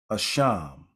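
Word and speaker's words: אשם: in Hebrew for Guilt the word is a sham sort of sounds like the word word ashamed in English don't it say I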